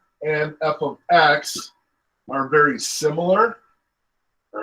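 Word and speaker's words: f(x): just as function notation this does not mean f times x this is pronounced f of x it's just saying hey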